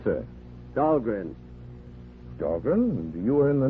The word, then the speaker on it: Dahlgren: Of course, they mispronounce it down there. Dahlgren, they say, but still named after me. But at Annapolis, the midshipman's armory, they call that Dahlgren Hall. It's pronounced right, Annapolis.